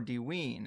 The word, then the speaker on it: Dvin: We start with Dvin, or Dween, as some people pronounce it, and its unexcavated buried pyramid.